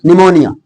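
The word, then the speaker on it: pneumonia: खाते रहते हो ना यदि ए या टी के पहले प हो तब वहां प साइलेंट रहेगा कहां पर ए और टी के पहले पी हो तब वहां पी साइलेंट रहेगा जैसे य निमोनिया निमोनिया का मतलब होगा फेफड़ों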